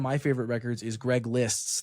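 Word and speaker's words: Liszt: favorite records is Greg Lists. That's L I ST album. I know it's it's spelled with a Z in it.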